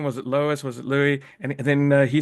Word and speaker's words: Louis: it Lois was it Louie and then he said what did you say like Lou Vuitton like Louis Vuitton exactly that's the one so um where are you calling in from Louie I'm actually from Sydney